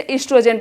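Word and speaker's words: oestrogen: इसका ओ साइलेंट होता है तो इसे एस्ट्रोजन पढ़ते।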